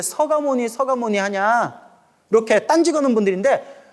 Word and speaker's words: 석가모니: 그래서 가끔 절에 오래 안 다니신 분들이 스님들이 이렇게 서가모니불 서가모니불 하면 석가모니불인데 왜 서가모니 서가모니 하냐 이렇게 딴지거는 분들인데 그 몰라서 그래 알겠죠 예 원래 발음은 서가모니라고 이렇게 발음을 옛날부터 그렇게 발음을 그렇게 했대 서가모니 아시겠죠 예 석가모니불께서는